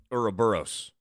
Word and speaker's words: Ouroboros: Ouroboros. Yeah. I always thought it was oro, like the O because it has an O, but that O is silent.